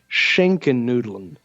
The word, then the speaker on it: Schinkennudeln: But he pronounced it something along the lines of Schinkennudeln. Yes. So he's like shink. So it's shink.